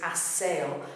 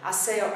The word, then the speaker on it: aseo: of process in general, but aseo, the beat is on the e. What have we got here? We've got a three-syllable word. Even though it's only four letters, it's three syllables. A-se-o. Because e, o are both strong vowels. Beat is on the last but one syllable.